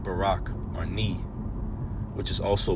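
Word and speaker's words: ברך: and ka together make barak pronounced ounced Barack or ni which is also bless as well.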